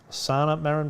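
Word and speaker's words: Sanna Marin: santa marin santa marin i believe that's pronounced sanna maron perhaps she's the prime minister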